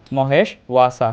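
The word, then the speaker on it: মহেষ্বাসা: শিক্ষার্থীরা, উচ্চারণটা ওয়া অর্থাৎ ডাব্লিউ, ইংরেজি ডাব্লিউ অক্ষরের মতো যেমন আমরা উচ্চারণ করি ওয়ার্ক, ঠিক এরকমভাবে উচ্চারণ হবে ওয়া। আমরা উচ্চারণ করবো মহেশ ওয়া সা।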